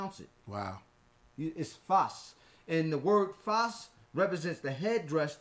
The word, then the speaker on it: Fez: what created the first city was called fuss not Fez mispronunciation from from the Moors from for nothing the more excuse me not the Moors but the French because the French Foreign Legion caught eventually conquered Morocco at one time before